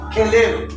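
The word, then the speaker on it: כלב: உதாரணத்துக்கு இங்கே புள்ளி வருகிறது, காஃப்ல புள்ளி வருது, அதனால இது கெலேவ்.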